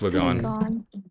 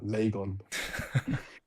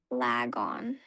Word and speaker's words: Lagon: When I first joined, I used to call him Laggon. I know Dio. Remember my name all wrong. Yeah, I do. Lagon like Lag.